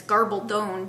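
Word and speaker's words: Gabaldon: And it's Garbaldone because on her website it's supposed to rhyme with stone.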